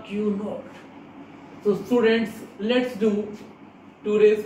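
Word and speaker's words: Q₀: To differentiate test charge from this other charges, I am just writing a 0 here and it will be pronounced as the Q naught.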